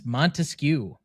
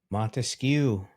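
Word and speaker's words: Montesquieu: It's Montescu. Mhm. M O N T E S Q U I E U. Montescu. That's not how it's pronounced in French.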